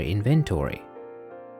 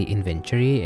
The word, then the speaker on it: inventory: By the way, I realized that I was pronouncing this word completely wrong. I used to say inventory, and you might catch me saying like this in my Let's Play series, but it's supposed to be inventory.